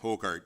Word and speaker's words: Hokard: Partial road closure bylaw on, is it Hokard? Am I Correct. pronouncing that properly? Hokard, yeah. Okay.